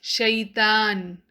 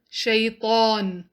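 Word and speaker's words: شيطان: The pronunciation of ta usually is not articulated correctly and it is pronounced as shaitan instead of shaitan. And this is an obvious mistake.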